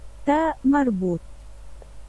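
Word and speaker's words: تاء مربوطة: Okay, so this is a ta marbut. Yeah, that's what it's actually called. It's always pronounced like ta.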